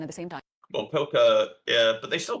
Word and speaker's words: coca: It's pronounced the same, spelled differently. No, coca.